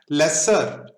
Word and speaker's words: lessor: Lessor owns the asset. Lessor rhymes with owner.